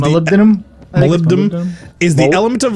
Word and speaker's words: molybdenum: good for says apparently Molly bin tundra man who pronounced that is molybdenum melindam is the element